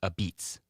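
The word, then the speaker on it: apizza: Which US city is famous for aisa, which is pronounced a beats? Which US city is famous for a beats?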